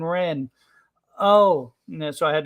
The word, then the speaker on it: Wren: us and she was why are they calling her Sabine the red I'm like no no it's Sabine Wren oh yeah so I